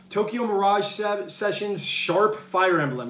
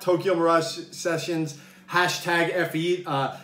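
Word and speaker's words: Tokyo Mirage Sessions ♯FE: ago and that is tokyo mirage sessions sharp fire emblem yeah that's how you say it's not tokyo mirage sessions fe that's sharp uh fire emblem uh special edition regardless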